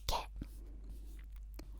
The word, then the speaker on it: ケ: And you pronounce it like ketchup, ketchup, ketchup, ketchup, ketchup, ketchup, ketchup, ketchup, ketchup.